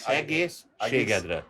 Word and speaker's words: egészségedre: I'll never learn to pronounce that. Just egészségedre. Shigedra.